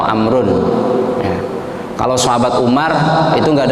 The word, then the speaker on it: Amr: namanya HAM wes Muhammad Jadi kalau Amr tulisannya tulisan potnya Amerika main-main rowo bacanya Amrin atau amrun kalau sahabat Umar itu